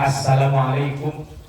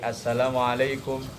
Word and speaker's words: assalamualaikum: Misalnya assalamualaikum yang benar kan lamnya panjang. Ya misalnya dia bacanya pendek assalamualaikum atau asilmu atau assalamu tapi niatnya sama tidak merubah maka itu tak mengapa.